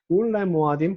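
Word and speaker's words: וּלְמוֹעֲדִים: 이걸 울모아딤이라고 발음할 수도 사실은 있는데 울레모아딤 괜찮습니다. 울레야밈 웨샤님.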